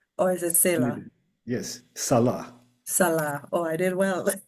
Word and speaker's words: Salah: Salah. Did I pronounce that well? Or is it Salah? Yes, Salah.